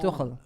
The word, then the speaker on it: Tuchel: Tuchel. You need to catch up, man. He's been in the league for almost 3 months. You need to pronounce his name properly. No, it's Tuchel. See Tuchel.